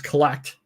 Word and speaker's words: CLLCT: He has launched CLLCT, which they pronounce collect.